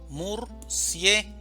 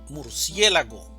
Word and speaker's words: murciélago: Murciélago, división silábica. Murciélago. Sílaba tónica. Sie. Murciélago.